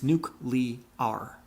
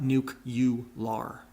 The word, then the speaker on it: nuclear: It's nuclear, not nuke-you-lar.